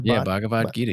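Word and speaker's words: Bhagavad Gita: Uh Bavad Gita. The Bavad Gita. You nailed it.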